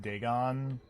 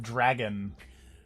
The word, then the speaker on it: Dagon: uh the main character guy totally mispronounced dagon in a very amusing fashion because he he totally just said oh it's the eye of dragon i'm lucky you bastards